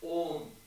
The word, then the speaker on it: Om: I went to a retreat and learned Om is actually Om. No. But in the rules of Sanskrit grammar, when you have and U together, it becomes Om. So the correct pronunciation is Om.